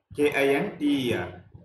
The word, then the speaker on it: tkinter: When you pronounce this word T K I N T E R, so T is the silent here. Just you can pronounce like a Kinter module.